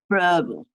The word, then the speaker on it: Froebel: and you went to Froebel School, is that how you pronounce it? Froebel Hall School? Yeah. School? Verbal, yes.